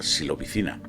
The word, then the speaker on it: psilocibina: Atentos a la experiencia de Terence McKenna con la psilocibina, se pronuncia así, el componente activo de ciertos hongos, ¿vale?